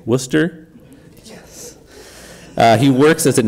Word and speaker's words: Worcester: in the UK that an average ignorant American from the Southwest would call Worcester, but someone who looked up it on the internet and knows how to pronounce it now would say Worcester.